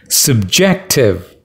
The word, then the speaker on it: subjective: second syllable is stressed subjective again second syllable is stressed what do you mean